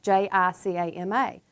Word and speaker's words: jicama: Now, in the grocery store, you may pass it up because you don't understand that it's spelled J-I-C-A-M-A. That's jicama. Jicama is a wonderful fruit, and it looks like this.